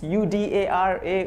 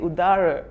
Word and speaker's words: Udara: I'm Udara, and apparently some people get my name wrong. It's Udara, Udara.